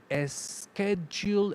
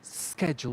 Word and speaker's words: schedule: I said schedule, and it should be schedule without an extra sound at the beginning.